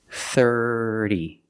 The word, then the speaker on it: thirty: voice er er together the T makes a fast D sound 30. 30. put the stress on a first syllable 30. 30. remember that fast D sound it's not a real D it's not third D it's faster 30 30. and it's not a rolled R it's not there's no air 30. 30 30. and then the last vowel is a long e like green beans 30.